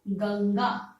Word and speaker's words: गंगा: का प्रयोग होता है तो उसका उच्चारण अंग की तरह हो ठीक है जैसे उदाहरण के लिए लिखते हैं हम गंगा ठीक है गंगा अब गंगा जब बोलते हैं आप तो गंग पे कौन सा साउंड आ रहा है अंग